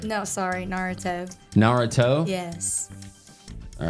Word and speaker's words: Naruto: How do you pronounce it again? Narutar. Naritar. No, sorry. Naruto.